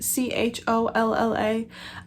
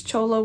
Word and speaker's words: cholla: And I also, for the first time, have used cholla wood. I think that's how it's pronounced. Cholla. I am terrible at pronunciation. I've heard other people say that it's cholla wood, but I'm really not sure.